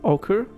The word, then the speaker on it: ochre: her palm it's awkward heart that's how you pronounce it ochre a heart glistens under the lights there are